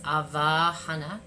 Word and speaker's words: avahana: It is such a powerful, and again, I love that it my Sanskrit is not perfect, but the pronunciation of this is a long va. It's avahana, and it just means invitation or invocation.